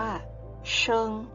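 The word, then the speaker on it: 生: คะ คือ ตัว พระ ภาษา จีน ออก เสียง ว่า เชิง คือ ตัว ละคร เพศ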